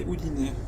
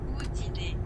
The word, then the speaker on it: Udine: J'ai vu Venise et Udine. Udine. Je sais même pas comment ça se prononce.